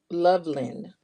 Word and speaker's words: Loveland: It's not Lovely. It's Loveland.